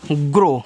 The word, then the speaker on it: grow: देखो आगे है GROW, तो इसको पढ़ते हैं ग्रो, क्या पढ़ते हैं, ग्रो पढ़ते हैं, यानी कि OW का उच्चारण यहाँ ओ की मात्रा के रूप में आपका हुआ है।